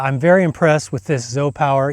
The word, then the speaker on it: ZOUPW: And so yeah, I'm very impressed with this Zop Power. Even though it's spelled Z U PW, it's sp it stands for Zo Power.